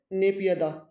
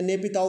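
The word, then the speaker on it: Naypyidaw: नेपियदा या नेपिताओ वगैरह, इस तरह से अलग अलग इसके हिंदी में आपको उच्चारण मिल सकते हैं।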